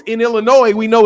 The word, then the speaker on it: Illinois: Vasquez says people outside Illinois say Illinois it's Illinois in Illinois we know it's Illinois you don't pronounce that ass it's Illinois anyway go ahead